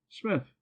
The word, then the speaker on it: Psmith: what is your name Smith the p is silent well Mr Smith I